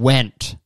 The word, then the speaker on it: Wendt: uh we got ian wendt wend ian wendt ian went is that how you say it went ian went to alphacon to do a speech e okay ian w-e-n-d-t went if you change the